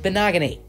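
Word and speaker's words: Igbinoghene: a good pick for them pick 37 no.18 bonaga Nate that is how you say his name by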